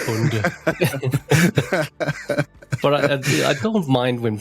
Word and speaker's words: Bonde: Is it Bonde or Bond? Like James Bond? I would really prefer Bond, but it's really Bonde.